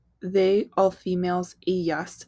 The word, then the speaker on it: ellas: They, all females, ellas. And it follows the same thing with that y sound for the double L.